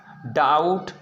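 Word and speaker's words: doubt: तो दोस्तों आप देख सकते हैं टी से पहले आया बी साइलेंट रहता है। जैसे आप यहाँ पर देख सकते हैं डेट, डाउट, सटल, ठीक है ना, डेव, ए अक्षर हम बी को क्या पढ़ेंगे?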